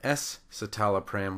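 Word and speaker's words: escitalopram: little bit better and we can't use the SC together because we would just pronounce it as s and it would sound just like the generic for celexa citalopram that's why the S needs to be there to add that additional syllable fluoxetine is Prozac and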